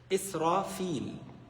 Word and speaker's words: Israfil: Israfil, if you want to say it right.